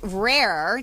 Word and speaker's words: RARE: So, regarding RARE, now there is a French way of saying it, which I cannot roll my R's, so I'm not going to try. So how do you say it? I say rare. I can't say the French version either. Okay. Because I'm Latin, but rare. Okay, Yeah. so there you go. I'll say rare.